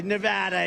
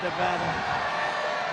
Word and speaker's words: Nevada: we love it and you always have to say it correctly Nevada you got to call it Nevada with thousands of proud